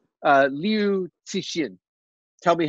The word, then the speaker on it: Cixin: Oh, Liu Cixin. Cixin, right. It's the TS in the front and the Cixin, right?